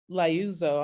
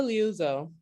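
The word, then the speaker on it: Liuzzo: never heard of her name is um viola lyouzo i know i'm saying her name wrong l-i-o-u-z-z-o via viola luzo she was a detroit mom she had kids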